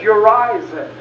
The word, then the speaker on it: Urizen: One is, pronounce the second syllable not with a long I, and he never said how we were supposed to pronounce it. Well, not with a long I, but with a long E, which is perfect, which you could easily do.